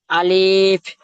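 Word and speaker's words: ألف: আলিফ, আলিফ বলেছি আমি ভাই, আলিফ বা, নয়। জি না, আলিফ যে টান দিলেন আলিফ নয়, আলিফ। কি বললাম একটু আগে? আলিফ।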